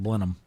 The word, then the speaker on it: Blenheim: She was a teacher in Blenham, South Carolina, which is the home of Blenham Ginger ale. It looks like Blenheim. That's how it's spelled, but it's pronounced Blenham.